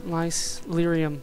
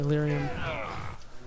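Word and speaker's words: Lyrium: that though not these lice lium sorry lium they did pronounce it for me not using these lium potions everybody just take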